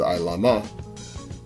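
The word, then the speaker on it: עלמה: Now this right here in the Hebrew is Ilama, okay, that's how you would pronounce it, Ilama.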